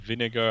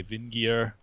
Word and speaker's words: vinegar: to wind up like instead of vinegar I would say Vin gear or sees us a